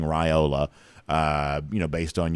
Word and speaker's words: Raiola: I am now saying raiola uh you know based on your uh admonition so I'm going to say raiola that's what you say it's supposed to be how it's supposed to be pronounced so Robinson riled a